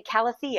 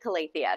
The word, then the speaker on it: Calathea: I hear people say Calathea. I hear people say Calathea. I don't care how you say it. Use the proper plant Latin. I appreciate you doing that, but I call it Calathea.